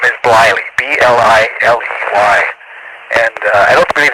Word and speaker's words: Bliley: I think you have the right, I think you got the right company in the wrong pronunciation. It's actually Bliley. It was spelled B-L-I-L-E-Y. And it was Bliley, and I think that's what you meant, isn't it?